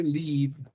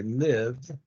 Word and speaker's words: live: live in Quito again the pronunciation here is live don't say leave say live yeah do you like